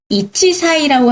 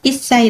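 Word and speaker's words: 1歳: 이치사이라고 하면 안 되고요. 1 歳 라고 하셔야 되고요.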